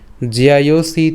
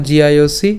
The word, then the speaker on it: জ্যায়োসি: কেন জিআইওসি? এখানে আমাদের কি আছে? জফলা আছে। তো জফলার উচ্চারণটা আমরা জানি যে জফলা থাকলে কার মতো উচ্চারিত হয়? ইয়র মতো হয়। তো বর্গীয়াজের সাথে ইয় এবং আকার একসাথে যদি আমরা উচ্চারণ করি তখন এর উচ্চারণটা কেমন হবে? জিয়া।